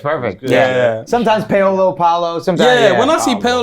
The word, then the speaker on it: Paolo: We got GIANNI PAOLO in the place, man. Hey, man. Thank you How for was the coming through. pronunciation? Yeah, it's good. It's perfect. Yeah. Sometimes Paolo, Paulo.